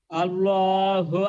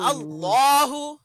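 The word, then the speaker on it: اللهُ: আল্লাহু আকবার হ্যাঁ, এখানে লামটাকে মোটা করব, আল্লাহু আল্লাহু আকবার।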